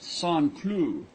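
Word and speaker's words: Saint-Cloud: a small village just outside of saint cloud pronounced sanclue it is given up to the manufacturer of porcelain you go to song clue by rail or river and then drive over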